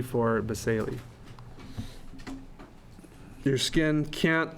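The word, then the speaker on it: basale: This was pronounced basal. I think some refer to as basal, but basali is how you pronounce that.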